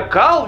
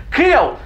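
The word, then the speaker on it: Kal: А вот имя Кал, видимо, у вас, господа прокатчики, никаких ассоциаций не вызывает. Нет, не вызывает. Блин, эту проблему можно было решить, всего лишь произнося его имя как Кэл.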